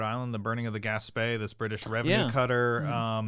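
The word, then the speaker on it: Gaspee: British Revenue cutter um is that how you say that that's that's how I pronounce it I always read it like gasby and then I feel like a child because I'm like I'm just dumb you have to pronounce it franch g that's right I didn't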